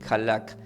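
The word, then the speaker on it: הלך: vida eterna esto significa del hebreo se pronuncia como halak ahora del griego que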